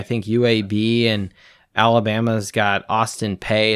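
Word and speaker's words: Austin Peay: UAB and Alabama's got Austin pay it's not even Austin Perry it's Austin pay maybe I'm mispronouncing that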